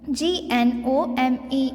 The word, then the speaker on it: gnome: Second one is gnome. G-N-O-M-E. gnome. G-N-O-M-E. So here also the word starts with the letter G, and G is silent here.